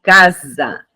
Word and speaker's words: casa: Veja só, eu digo casa, não digo caça, né?